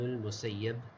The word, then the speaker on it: al-Musayyab: When it comes to the dabt of this word, it's bimadmuma, the very first letter, the mim has a dhamma. Fasin, after the mim is a sin.